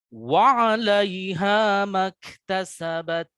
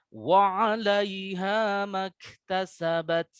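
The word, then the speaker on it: وعليها ما اكتسبت: Jadi yang salah, nih sekali lagi saya contohkan yang salah supaya kita waspada. Jangan terlalu panjang. Wa 'alaiha maktasabat. Nah, itu salah.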